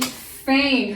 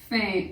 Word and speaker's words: feign: She feigned her sickness. Feign. F-E-I-G-N. Feign. Now that E-I-G, that makes the long A sound. A. And really, the E-I makes the long A sound. The G is just silent.